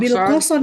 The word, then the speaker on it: Wilcoxon: Wilcoxon Wilcoxon ya Pak. untuk Bacanya apa Pak?